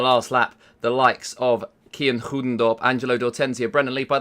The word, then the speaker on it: Kian Goedendorp: they're on the last lap, the likes of Kian Goedendorp, Angelo D'Ortenzia, Brendan Lee. By the way, that's actually how you pronounce Kian's name.